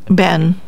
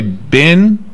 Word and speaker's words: been: People either say bin, ben, or bean.